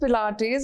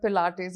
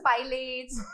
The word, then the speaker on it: Pilates: this one is interesting has anyone ever mispronounced the word pilates in front of you always yes tell us some fun ones play it is the time it's played it's pilots there's so many variations to it so we always